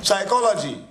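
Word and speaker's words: psychology: साइकोलॉजी, साय है ना, साय यानी एस, तो स्पेलिंग क्या होता है? पी ना, पी एस। अरे तो फिर क्यों बोलना नहीं है पी?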